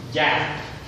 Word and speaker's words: Kyat: The currency of the Puma or Myanmar and Kyat, and sometimes pronounced Yat.